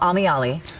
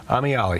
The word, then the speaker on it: Ameyalli: It's called Ameyalli. Ameyalli.